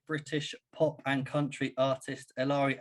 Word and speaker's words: Eleri: about it for the last hour um it's larry young harrod and carrad yeah okay brilliant um